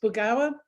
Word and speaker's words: Burgauer: thanks very much so the awful last name that i have thanks to my husband is pronounced bogawa uh he says and